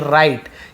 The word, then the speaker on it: write: हैं, आप देखे होंगे WRITE, राइट, यहाँ पर भी हम राइट को पढ़ते, W को नहीं पढ़ते। ऐसे बहुत सारी चीज़ें हैं जो WR से स्टार्ट होती है, जहाँ पे वर्ड्स है जहाँ पे W को आप नहीं पढ़ते, ठीक है, क्लियर है।